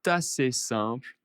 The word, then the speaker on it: assez simple: Alors, c'est assez simple, attention la liaison, hein, c'est assez simple et tellement efficace.